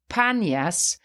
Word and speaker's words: Banias: the god pan now the name banyas actually still carries the name of the god pan but because in arabic there is no letter p the pronunciation became done with the letter b so instead of panyas it became banias and the spring that